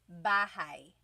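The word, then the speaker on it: bahay: You might notice that the spelling is a y at the end. So it looks like bahi, but it's pronounced bahigh. That ay combination is bahi.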